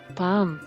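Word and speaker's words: palm: silent letter ಎಲ್ yoke ಪಾಮ್ ತಾಳೆ ಮರ silent letter എൽ പാమ్ ಡೌ ಸಂದೇಹ ಸೈಲೆಂಟ್ ಲೆಟರ್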